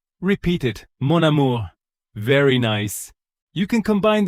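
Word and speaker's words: mon amour: It is monur means my and amore means love. So, monamour. Repeat it. Monamore.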